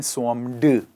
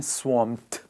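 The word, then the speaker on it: swamped: Guys क्या आपको पता है हम इसे स्वॉम्ड नहीं कहते, ये ईडी एंडिंग में जो वर्ड है, ईडी को प्रोनाउंस करा जाता है ठ से, सो हम बोलते हैं स्वॉम्ड।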